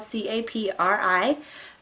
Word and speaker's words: Capri: if on your phone, it actually says that Capri is pronounced as if it were with a K.